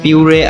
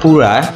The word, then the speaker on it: Pura: ফোনটার নাম হলো হুয়াই পিউরে আলট্রা। যদিও উচ্চারণে এই ফোনটার নাম হয় পুরা, তবে যেহেতু আমার একেবারে কপাল পুরা তাই আমি এই নামটা না উচ্চারণ করে পিউরা উচ্চারণটা করি আপাতত।